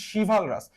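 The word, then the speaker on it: chivalrous: উচ্চারণটা হচ্ছে শিভালরাস। তো এইখানে যদি একটু খেয়াল করো কি আছে, শিভা শব্দটা আছে।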